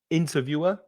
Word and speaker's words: interviewer: And also there's changing stress in the next 2 words, interviewer, stress the 1st syllable, interviewer, and interviewee.